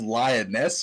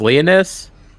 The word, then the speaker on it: Leonis: hunting this drought lot i have lioness but i don't think that's right i think it was leonis leonis yeah okay that i wasn't pronouncing it right hey frog i'm i'm